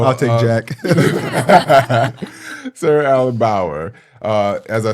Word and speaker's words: Bauer: If I'm pronouncing her Bauer. Like Eddie or Jack. There you go, Bauer. So I'll take Jack. Sarah Allyn Bauer, as I said, is COO of Towne Street Theatre.